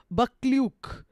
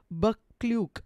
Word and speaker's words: Buccleuch: Scott was reduced from impending bankruptcy by his patron, the Duke of Buccleuch. I don't know how to pronounce it.